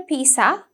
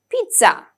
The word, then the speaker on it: pizza: We have pizza, z sound, okay? It's not a pizza, okay? It's a pizza, z sound, pizza.